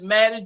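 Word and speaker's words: Mattie: uh my name is Maddie j m a t t i e the second T is silent I am the church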